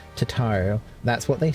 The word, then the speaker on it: Tataru: I need to get better at pronouncing her name. Tataru.